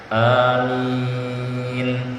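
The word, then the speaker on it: آمين: Ya, cara membacanya ini, alifnya dipanjangkan 2 harokat, jangan terlalu panjang, amin. Nah, ini keliru, jadi cukup 2 harokat saja, baru yang minnya panjang, amin, gitu ya.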